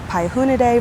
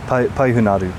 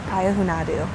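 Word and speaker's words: Payahüünadü: Did I say it correctly? Py Hunadu. Paou Hunadu. Mhm. Wow, I totally butchered it. Pa hunadu. Mhm. Okay. Pyahunadu. Thank you.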